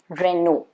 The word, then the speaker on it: Renault: of these are wrong supposed to be renault renew again cars okay now this one i remember